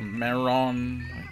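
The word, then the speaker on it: メロン: honeydew melon in Japanese you say it like a meron right corner okay congratulations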